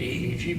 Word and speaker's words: Yi: that may mean more than just making EEG measurements. Yeah. So the Chinese have a saying, in Tai Chi they say the E leads the Qi. The E is spelled like Y-I.